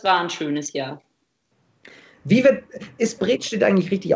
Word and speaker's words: Bredstedt: Ist Bredstedt eigentlich richtig ausgesprochen? Wie spricht man es aus? Brettstedt.